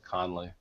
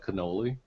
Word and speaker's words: Connolly: is your last name connolly i'm a idiot you almost said it like cannoli well then what do